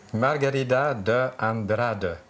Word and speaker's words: Margarida de Andrade: Bienvenue, Margarida de Andrade. Je pense que j'ai bien prononcé votre nom. Parfaitement, avec oui. un petit accent du Québec.